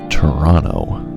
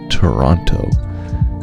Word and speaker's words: Toronto: people who live here we don't actually pronounce the second t in the name of our city we don't do that at all we pronounce toronto not toronto so that's just a